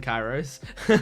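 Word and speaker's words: Kyros: Kiros and kyos cuz for me the name looks like it's pronounced chyros and chyros kind of sounds more natural for the way that it's written but the the characters call him kyos so I'm going to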